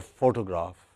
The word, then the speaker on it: photograph: look at this word photo or photograph it has stress on the first syllable full okay whether you